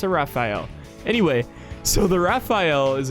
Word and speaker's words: Rafale: It's a Rafale.